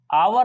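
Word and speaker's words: hour: यहां पर फर्स्ट जो लेटर है एच है, यानी कि इंग्लिश का एच है। एच तो किस में आता है? कॉन्सोनेंट्स में आता है, लेकिन इसका sound, first sound of pronunciation क्या निकला? आ। यानी कि इसमें हमारे स्वर हिंदी वाले स्वरों में से आ रहा है, तो आवर आ रहा है, तो यहां पर एन आवर लगाएंगे।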